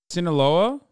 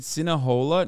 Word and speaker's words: Sinaloa: or killing uh am I saying it wrong Sinaloa scene aloha you said cinnahola no I didn't I don't even know how